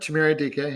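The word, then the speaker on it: Chimere Dike: Uh Chamira DK, I think I'm pronouncing that right. How did I do, Scott? Yep. Chamir DK.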